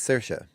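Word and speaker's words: Saoirse: I think I got that I believe it's cersa thank you very much that's how you pronounce that yeah all right Ron Perman has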